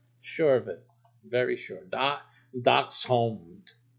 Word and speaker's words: Dachshund: So it's dachshund. So it's like hound. Remember that you're gonna have to get that hound sound. Sure of it. Very sure. Dachshund. Dachshund.